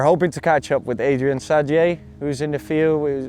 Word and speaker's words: Adrien Saddier: This is Adrien Saddier. You know, tell the name in English. I think in French it's Adrien Saddier. So that's a bit better pronunciation, isn't it?